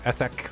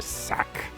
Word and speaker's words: Ssak: bottom right in corn we have sock or essec or sack I'll go with sock I actually looked up the highwaytosis and tasteless we're choosing to pronounce it and sock is the preferred that s just